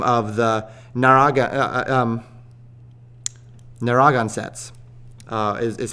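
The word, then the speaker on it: Narragansett: uh by the name of the naraga um naragan sets uh is how it's pronounced naragan sets um and so roger williams of course fighting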